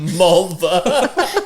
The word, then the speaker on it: Mulva: Mulva. To rhyme with vulva.